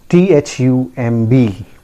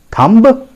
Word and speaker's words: thumb: correct pronunciation it is again i tell you be silent here never pronounce the silent letters right so it is pronounced as thumb it is pronounced as thumb simple keep it simple thumb okay i hope